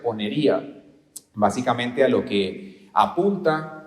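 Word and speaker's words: πονηρία: Y el segundo, la palabra griega de la cual se deriva esto, se pronuncia ponería.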